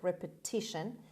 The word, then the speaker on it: repetition: example and the sorry the stress is on t repetit on that third syllable repetition means act of doing